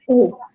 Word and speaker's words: ओ: जाती है ओ, क्योंकि जब हम अ बोलते हैं तो हमारा मुंह थोड़ा खुलता है, उ बोलते हैं तो हमारा मुंह थोड़ा कम खुलता है। तो जब आप उसको मिला देते हैं तो जो प्रोनाउंसिएशन होती है वो बनती है ओ।